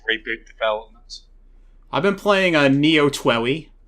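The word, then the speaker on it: Neo TWEWY: I've been playing Neo Twoey, which is how you say that game's name, right?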